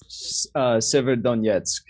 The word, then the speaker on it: Severodonetsk: Severodonetsk.